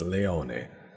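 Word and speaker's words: Leone: has spotted question marks actually it's not Leon it's Leon I'm going to get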